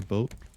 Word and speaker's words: Boot: Is boot German for boat? Boot, it's German Oh, for it's not boot. pronounced boot, it's pronounced boat.